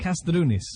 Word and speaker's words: Kastrounis: How did I do on the pronunciation? Is that right? Very good. Kastrounis. Very good indeed.